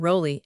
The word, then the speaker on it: Raleigh: of Queen Elizabeth, and he pronounced his name Rowley and assured us that his illustrious namesake had often spelt it in this way, which showed that he must have pronounced it as if written with an O.